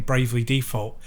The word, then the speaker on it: Bravely Default: But the text-heavy bit, and this is coming from somebody who's playing Bravely Default, to use your pronunciation with the emphasis on the D, playing Bravely Default 2.